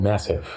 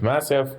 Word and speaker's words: MASEF: about it's actually called massive it stands for the metabolic Advanced steel hepatitis fibrosis core okay so the a is a short day not a long a okay I stand corrected